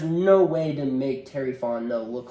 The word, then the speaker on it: Fontenot: way to make Terry Fontenot look like a genius after this. No. Is that how you say it, Fontenot? Fontenot, okay. yeah. I was putting the T at the end, Fontenot.